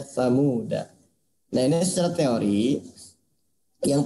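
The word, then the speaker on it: ثمودا: Nah, ini ada tulisan Samuda ya, maka dibacanya Samuda. Nah, ini secara teori yang pertama, semua tulisan Samuda da-nya dibaca pendek. Ya, jadi semua tulisan samuda da-nya dibaca pendek. Samuda ya. Jika terpaksa waqaf, da-nya dibaca sukun. Samuda.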